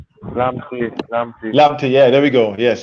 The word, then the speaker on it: Lamptey: And I got to give Moy, you made a good point there about what's his name, Lapsey? I think that's how you pronounce his name. Lamptey, yeah, there we go.